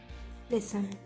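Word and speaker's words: listen: When T comes before C एच और after S, इट is silent.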